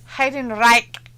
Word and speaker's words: Heidenreich: Flash is like, it's pronounced Heidenreich.